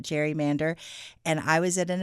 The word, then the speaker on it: gerrymander: And uh that comes because it was originally named after a Massachusetts governor, Elbridge Gary. And it was a combination of two terms because he had created a district kind of shaped like a salamander. And so they combined Gary, his last name, with the word salamander. And that's where we ended up with Gary Mander. But over time, we started calling it gerrymander.